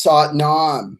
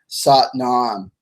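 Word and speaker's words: Sat Nam: when he came to the west and is sought non sought none SAT and AM sought rhymes with but satnaam so this is if you're familiar with Kundalini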